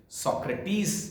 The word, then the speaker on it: Socrates: इसका Greek pronunciation सोक्रेटिस इसको कहते हैं, अंग्रेजी में SOCRATES लिखा जाता है। हिंदी में हम जब चर्चा करते हैं तो हम सुकरात कहते हैं।